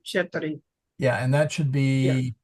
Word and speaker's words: ceteri: It was sounding like to me to like nos or And he said zeteri instead of cheteri.